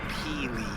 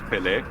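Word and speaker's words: Pelé: Well, Dwibs, there's no accent on the E, so... Or Peely. No, Dwibs, the correct pronunciation was Pele.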